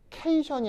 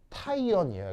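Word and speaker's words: cation: 그래서 이걸 줄여서 요걸 줄여가지고 이렇게 읽는 거라서 케이션이 아니고요. 캐타이온이에요. 그죠? 아이온, 이온이란 말을 써야 돼요. 알겠죠? 그래서 발음이 케이션이 아니라 캐타이온이다. 아시겠죠?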